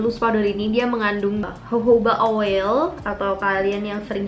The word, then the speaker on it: jojoba: Dan loose powder ini dia mengandung jojoba oil atau kalian yang sering sebut jojoba, tapi cara bacanya itu jojoba oil.